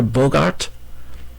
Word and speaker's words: Bogart: "Monsieur Bogart?" She pronounced the hard G and the T.